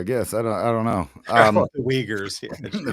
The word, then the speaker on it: Uyghurs: The Uyghurs. Yeah, The Uyghurs. Yeah, I'm sorry, mispronunciation. no, yeah. It depends on how you see that U sound with the two dots over it. Both okay.